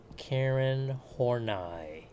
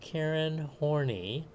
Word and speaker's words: Karen Horney: another neofreudian is and please pronounce her name correctly karen hornai it's german okay not karen horny you're getting a lot